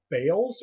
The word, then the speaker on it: Baal: Now they worshipped many different gods, a group of which are called the Baals or the Baals. It's pronounced, people will pronounce it a lot of different ways, but it's spelled B-A'-A-L.